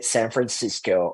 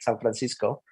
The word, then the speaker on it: San Francisco: I never say San Francisco or Los Angeles or Palo Alto. I would usually say San Francisco, Los Angeles, and Palo Alto.